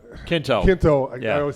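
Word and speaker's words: Quinto: and thank you you know and Zachary it's Kinto Kinto yeah I always say his name wrong he he addresses him and asks him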